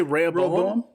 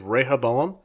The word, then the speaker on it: Rehoboam: I say Rehoboam. That's how it's pronounced in the Bible. It tells you exactly how to say it. It's Rehoboam, but they say it differently in the show, and I can't.